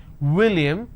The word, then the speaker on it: william: vase flowers or flowers if i use the name william so i'm i make out of my lips i say william winter so it's winter it's not winter okay let's move on